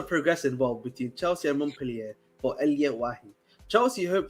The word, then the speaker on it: Montpellier: Montpellier? No, Montpellier. Just act like the T doesn't exist.